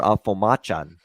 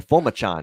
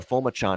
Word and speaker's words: Fomachon: been uh going with uh tyler alfo machan well fomachon i should say that's how you pronounce it tyler fomachon at quarterback and he